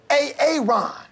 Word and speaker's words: Aaron: Because it's pronounced Aaron?